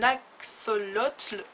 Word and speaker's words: axolotl: Attention à la prononciation, un axolotl.